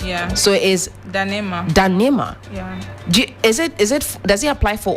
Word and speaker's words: Ndanemah: Like the N is silent. The N is silent. Yeah. So it is Ndanemah.